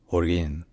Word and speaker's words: Holguín: place of Fidel Castro in Cuban Spanish is pronounced Orin Orin Orin or all